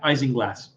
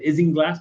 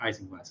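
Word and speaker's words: isinglass: you are both correct it is in fact eising glass uh eising glass is is uh how it's pronounced I would have said ising glass but it is is in fact icing glass and again it's um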